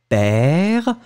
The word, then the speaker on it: père: Donc le premier A, c'est « père ». Et le deuxième, c'est peur, d'accord? Père, ouvert, peur, le B.